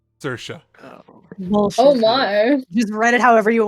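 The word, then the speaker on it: Saoirse: yep sersa just write it however you want bro yeah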